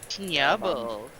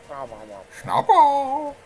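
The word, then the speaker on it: Snubbull: Snubble. It's not nya, it's schna. No, like yeah. Schnob. Schnobble.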